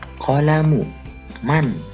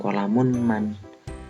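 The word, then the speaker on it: قلمُ مَن: Qalamu man hada. Oke. Qalamu man hada. Ini pun termasuk idhofah. Hanya saja idhofahnya digabungkan dengan man. Siapa? Maka bukan qalamun man. Kita bacanya qalamu man.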